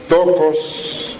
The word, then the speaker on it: Theotokos: Esta palabra se escribe con T lo que conocemos comúnmente también después de la T, la H muda, E, O, T, O, K de kilo, O, S.